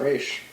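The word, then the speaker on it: Ra's: grayson or bruce wayne's you accepted roz and not race yeah because there's two ways of pronouncing it and dc even says like both are acceptable okay both are canon okay all right i'm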